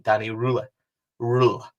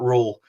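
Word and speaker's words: Röhl: Now, I have been reliably informed and saw a clip that he does pronounce his name Danny Rohl, like the German kind of style. So not roll.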